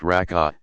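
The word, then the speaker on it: ركعة: The number of cycles, rak'ah, pronounced rak'ah, depends on which prescribed prayer one is performing.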